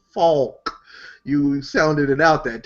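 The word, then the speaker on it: Falk: wait his name is Faulk oh he said Faulk you sounded it out that time well I in you depends in in German because his name is Germanic you don't really pronounce the L then just don't pronounce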